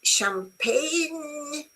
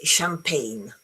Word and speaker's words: champagne: Do you pronounce the G? Do you say champagne? Uh you don't. You say champagne.